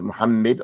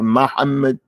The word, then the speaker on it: Muhammad: from muhamed mamed our Prophet his name is Muhammad or Muhammad mam sometimes you hear the some they don't memorize it or pronounce when they say muhamed they say mamed mam so sometimes the people